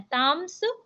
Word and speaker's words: तांस्: माम प्रपद्यंते उसके बाद ताम्स ताम्स जो ता के ऊपर मा की बिंदी है और उसके बाद आधा सा तो वो एक साथ पढ़ना है ताम्स एंड नेक्स्ट तथैव त